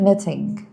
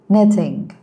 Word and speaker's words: knitting: So first one silent K. For example, the word knitting. Knitting.